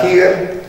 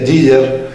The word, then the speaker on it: Giger: Me gusta el artista Giger, en realidad es Giger, se pronuncia, suizo, es un pintor suizo, me encanta.